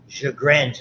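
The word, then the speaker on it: Sjögren's: Sjogren's is how you pronounce it.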